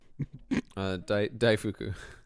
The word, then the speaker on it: daifuku: This is, how do you pronounce that? Daifuku? Daifuku.